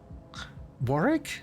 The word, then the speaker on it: Warwick: wrong about Warwick are you telling me I've mispronounced Warwick all of my life too is that not his name oh Warrick why I mean it's like that oh Wooster